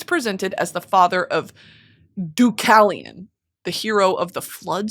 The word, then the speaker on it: Deucalion: He's sometimes presented as the father of Deucalion, the hero of the flood story.